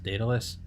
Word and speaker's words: Daedalus: of project uh i don't know how to pronounce it dataless daedalus yes the the later version out of uh